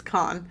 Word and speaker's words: Cannes: it premiered at the Cannes Film Festival in 2022. How's it pronounced? Cannes? Yeah. I think I said Cannes. It's Cannes. Cannes Film Festival. Uh It's French. You don't pronounce half the letters.